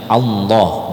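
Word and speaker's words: الله: dengan lafaz Allah nah Allah ini kalau dia berada di awal ayat maka dia dibaca aslinya Ya Allah dan itu cara membacanya berarti tebal Allah ya Allah D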